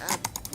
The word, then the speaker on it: ABBBBBBK: They nicknamed it ABBBBBBK, which fans later decided to pronounce as Abby.